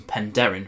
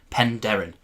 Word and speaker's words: Penderyn: Wales to check out some pen Darren whiskey that is how you say it pen Darren so this here is